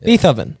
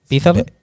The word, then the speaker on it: Beethoven: Beethoven and like No way. How did you say it? Say it. Beethovven.